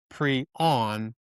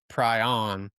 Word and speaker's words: prion: What about the word pon pronounced preon and not pryon?